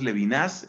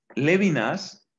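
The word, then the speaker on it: Levinas: interpretar qué significa leer levin a usualmente lo pronunciamos lévinas entre nosotros lévinas va a intentar la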